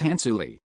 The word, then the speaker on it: Hansuli: It's Hansuli. It's not Hans. So, please be wary of the pronunciation. Han Shu Lee.